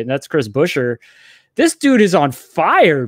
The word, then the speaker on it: Buescher: how to say his name right, and that's Chris Buescher.